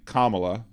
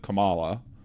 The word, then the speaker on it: Kamala: grief for um is the people who can't pronounce her name right uh to me if you can't say Kamala instead of Kamala uh you know maybe